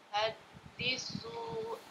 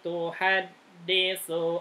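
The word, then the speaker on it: تحدث: yuhaddisu akhbaraha. Tuh-nya pendek. Yauma idzin tuhaddisu akhbaraha.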